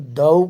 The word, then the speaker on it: thou: दूसरा एक वर्ड आया है THOU। इसका प्रोनाउंसिएशन दऊ करेंगे।